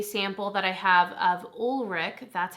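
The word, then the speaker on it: Ulrich Lang: i picked a sample that i have of ulrich that's how you say it thank you so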